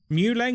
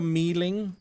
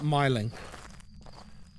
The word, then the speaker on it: Myling: Yeah, that's actually how it's pronounced. Muleng or Mealing is the proper pronunciation. Not Myling.